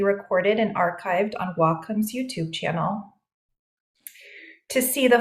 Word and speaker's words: Wacom: it is pronounced W which means Harmony in Japanese and Comm as in computer so Wacom but hey we will answer to waycom or Wacom no judgment